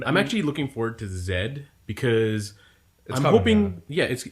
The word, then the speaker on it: Z: Because the new movie is Pokemon X and Y and Z. That's right. It's Zed, not Z. Fuck you, America. Everyone else knows how it's pronounced, just like how everyone else understands that